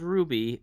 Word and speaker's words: RWBY: out yet and and it's called Ruby but it's spelled RWBY yep which threw me off I was like okay I don't get how you're getting Ruby out of that but I can explain